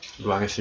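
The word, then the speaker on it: Rouen: 루앙에서 유명한 거 두 가지. 아, 이러면 뭐 루앙 사람도 화내는 거 아니야? 정확한 프랑스어 발음은 후앙이고요. 후앙하니까 갑자기 그 환풍기 생각나죠? 그래서 후앙 카테드랄이라는 게 이 작품의 원제인데, 이게 한 작품이 아니에요.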